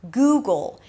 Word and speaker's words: Google: Then, of course, we have Google. You start with a G sound, then it's the oo as in food.